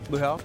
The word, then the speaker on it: luau: at the Royal Hawaiian am I saying it right lual lual Lu that sounds so much better when you do it so Lu consists